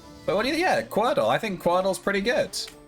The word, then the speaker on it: Quordle: Yeah, Quordle. I think Quordle's pretty good. It's like Wordle, but there's 4 of them. It's spelled Quordle. You know, Quordle. Like quarter dull.